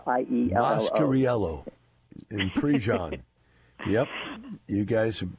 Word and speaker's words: Mascariello: pick the hardest names in the book to pronounce? Mozzarella, how do you pronounce it, Frank? Hey, as long as you remember us, that's all that matters. Mine's Mascariello, I-E-L-L-O. Mascariello in Prejean.